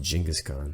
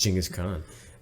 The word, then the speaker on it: Chinggis Khaan: jingis gone kangas phone actually pronounced Chinggis Khaan I'll disagree you can disagree is Chinggis Khaan listen that that guy